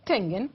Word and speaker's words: Schengen: Algunos, ¿Schengen se pronuncia? Schengen, Ya.